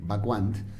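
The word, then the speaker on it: Wacquant: en francés, L-O con diéresis y C, Bacquant, impronunciable el apellido, W-A-C-Q-A-N-T, Bacquant.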